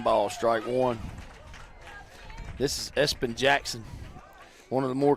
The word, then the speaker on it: Espn: it's creative guys because it's spelled ESPN yeah pronounce Espen I like it I do